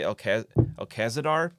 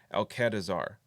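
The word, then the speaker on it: Alcadizaar: name wrong too because I always want to say Alcazadar, but that's not right. I always switch the D and the Z's. Alcadazar.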